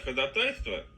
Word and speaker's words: ходатайство: Ведь можно бесконечно подавать ходатайство, ударение правильно поставлю, а то сейчас возбудятся. Вроде не весна, вот еще,